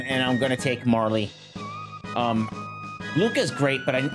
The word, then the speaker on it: Marle: I'm I was a Marley kid. You couldn't tell me otherwise until I was an adult and the internet became a thing. I was like, "That's how you pronounce it?"